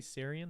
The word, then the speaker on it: Sarian: Yeah, she's really Bailey Sarian.